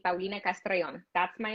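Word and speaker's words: Castrellón: used to say and they said why do you say it with an accent why do you have to roll your r's why can't you say paulina castrellian and i corrected them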